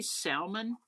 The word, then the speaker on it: salmon: had y'all I say salmon but there's no l no there is too there is an L but supposedly it's not pronounced everybody says salmon I